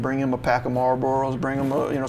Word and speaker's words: Marlboro: I'm only laughing because you pronounced Marlboro right not like marburo some people do it's